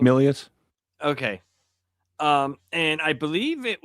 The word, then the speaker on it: Milius: Milius.